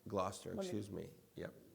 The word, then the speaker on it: Gloucester: And you're in Gloucester. Gloucester. Gloucester, Let me- excuse me. Yep. And you did not. We're touchy about that in No, Gloucester. I'm sorry. I actually Googled how do you pronounce it, and I got it And wrong